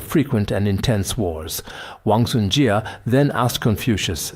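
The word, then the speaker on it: 贾: I pronounce it as jia. Wangsunjia asked rather than fing over the ancestral shrine why not fawn over the kitchen stove?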